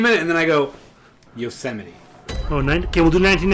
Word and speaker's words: Yosemite: living with no ropes I always mispronounce Yosemite when I read it you know somebody I always go yo smite and I'm always I